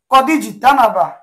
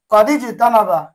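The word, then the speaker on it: قَدِ اجْتَنَبَ: ইজতানাবা, এখানে কিন্তু হামজার উচ্চারণটা হয়েছে, কিন্তু যদি আমরা পূর্বের কোন শব্দের সাথে ইজতানাবাকে মিলিয়ে পড়ি, তখন কিন্তু এই হামজার উচ্চারণ হবে না, লেখা ঠিক থাকবে, উচ্চারণে আসবে না।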